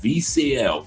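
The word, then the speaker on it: Vieciel: But it's called VCL. V I E C I E L. VCL. That's how it's pronounced.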